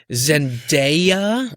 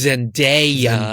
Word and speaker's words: Zendaya: It's Zendaya. Zendaya, you or gotta say it right. I used to call her like Zendaya. Like I just like to fancy it up. But apparently her name derives from Shona. That is the Bantu language spoken by the people of Zimbabwe and Mozambique.